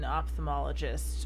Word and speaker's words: ophthalmologist: it's you know because usually we pronounce pH like an F and an ophthalmologist we we don't but it's still a